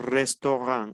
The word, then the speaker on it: restaurant: la t tenemos restaurant acuérdense que la a con la Us o Entonces tenemos resto la t final no se pronuncia tenemos Lee Qué significa